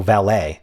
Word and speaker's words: valet: be the AL oh valet it's valet okay got it I thought of ballet but not valet it's interesting that ballet is not spelled the same as valet even though they're pronounced the same and they're both French